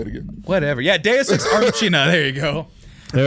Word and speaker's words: deus ex machina: And you didn't tell me you didn't know how to pronounce it. Say it again. Whatever. Yeah, Deus Ex Machina.